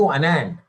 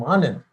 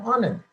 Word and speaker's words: Anand: asking me, "Are you Anand?" I said, "No, I'm Anand." Americans cannot pronounce 3-syllable names. "Are you Anand?" I said, "I am Anand."